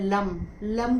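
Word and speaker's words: लं: जुड़ा होता है और उसका मंत्र होता है लम लम करके उच्चारण किया जाता है और उस जो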